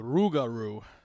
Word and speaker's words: Rougarou: The Rougarou.